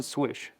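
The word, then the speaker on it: Slysz: yeah, Martian Swish. Okay. And sometimes I get that name wrong, but the L is silent, so it's Swish, and this is the Martian Swish Bowie.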